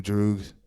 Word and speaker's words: Droog: So your new Droogs. So, DROOG. It's like kind of pronounced Droog.